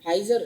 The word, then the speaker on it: Pfizer: इसके बाद एक और तीसरा वाला जो अभी पुतनी वाला आया, फाइजर।